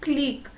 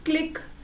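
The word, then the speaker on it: clique: Next जो word है, लग आपको रहा होगा कि बिल्कुल सिमिलर है, it's called क्लीक. इट्स नॉट क्लिक, इट्स क्लीक.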